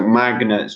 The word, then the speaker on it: magnet: Magnets. Just be careful of the pronunciation of magnets. Magnet. We pronounce all of that.